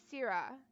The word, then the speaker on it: Cira: location on today okay I definitely didn't pronounce that one right it's pronounced cira cira is a large Moon